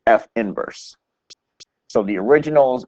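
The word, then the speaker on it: f⁻¹: it's f inverse so it's not F 2 negative 1 it's F inverse so the originals f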